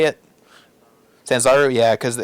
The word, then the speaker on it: Sanzaru: Sanzaru.